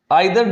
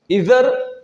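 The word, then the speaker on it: either: आइदर डॉट डॉट और, नाइदर डॉट डॉट नॉर, इधर और निदर नॉर, दोनों भी कह सकते हैं। नॉर्थ अमेरिकन और ब्रिटिश की जो प्रोनाउंसिएशन है उसमें।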